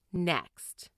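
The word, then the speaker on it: NECST: to form a memorable acronym n-e-c-s-t pronounced next one need nine out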